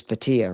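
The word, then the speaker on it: Bhatia: I mean even Akshai Biate um I probably didn't pronounce that right. He's 13 to1 to top five and he's been playing good. You're saying it like is Patia, right?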